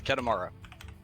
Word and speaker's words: Kedemara: so I figured just make a little closer to how it would be pronounced so ket Amara although although Kitty Mar